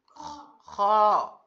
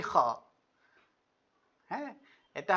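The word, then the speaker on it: خ: হবে যে আসে কিনা এই হরফগুলো যদি সঠিক উচ্চারণ করা যায় তাহলে খুব সুন্দর তেলাওয়াত করা যাবে খ খ অনেকে বলে খা অনেকে বলে খোয়া না এটার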